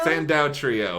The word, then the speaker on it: Sandou: Okay, here's with, I'm going to say their name wrong, the Sandou trio. Sandou trio.